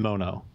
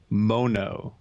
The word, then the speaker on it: Mono: favorite spot in in Mon oh and by the way I don't know I'm no authority but I was told that mono is a disease mo know is how you pronounce it no no so not